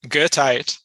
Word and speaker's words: Goethite: Is that how Yeah, you pronounce it? Goethite, named Goethite.